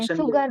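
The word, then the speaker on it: sugar: तो इसमें एफ एच नहीं आ रहा। एफ यू ही आ रहा है। लेकिन इसको जो हम प्रोनाउंस करते हैं वो शुगर करते हैं। शुगर। ठीक है? तो जो प्रोनाउंसिएशन होता है वह एस एच होता है।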